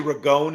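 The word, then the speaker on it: Ragone: is which is actually regon is the actual pronunciation but yeah okay I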